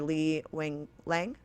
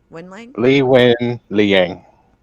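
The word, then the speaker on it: Li Wenliang: Li Wenlang? Li Wen Liang.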